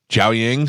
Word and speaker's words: Jiaoying: Yeah, Summers, you did not pronounce it right, but Jiaoying was perfect. Jiaoying, that's what I'm working on.